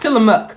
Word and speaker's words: Tillamook: that over because y'all I never say it right I have to like literally do that in my mind like okay so book it's not book it must be muck so it's Tillamook all right let's try